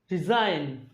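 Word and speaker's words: resign: রিজাইন, এটার উচ্চারণ হলো, এখানে জি এর উচ্চারণ হচ্ছেই না টোটালি।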